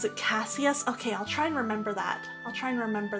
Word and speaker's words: Cassius: And I think you usually pronounce it Cassius.